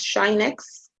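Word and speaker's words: sinh: Rob already on Moodle, sin x, which we pronounce as shine x.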